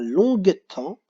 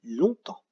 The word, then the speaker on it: longtemps: juste se rappeler que ici on ne dit pas longue à temps mais on dit longtemps donc maintenant on passe